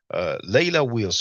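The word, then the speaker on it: Leila Wills: Chuck Morgan, in his interview with Layla Wills that I have shared yesterday, Layla Wills, just like it's spelled, Layla, Leila space Wills, Wills.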